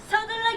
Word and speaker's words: 서둘러: 서가 안 들리면 안 돼요. 그래서 세게. 서둘러 여기 그렇지.